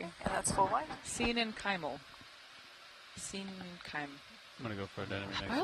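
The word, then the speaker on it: coenenchymal: Thank you Steve Oskovich for writing it out phonetically. And that's why sen kyimal sen kim.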